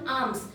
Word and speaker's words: alms: So a person who relies, पूरी तरह depend है, solely डिपेंड है on alms, एल साइलेंट है यहाँ पर। जैसे बाम होता है ना, BALM, वैसे आम होता है ALM, आम, राइट।